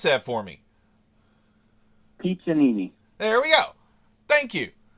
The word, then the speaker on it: Piccininni: Now, can you pronounce that for me? Piccininni.